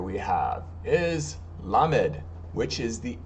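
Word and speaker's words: lamed: and then doid D so underneath the L has the the the dash of the T so remember that's going to be the a sound so it's going to be LA and then M and this the three dots is going to be e or E so la mid La mid all right and that's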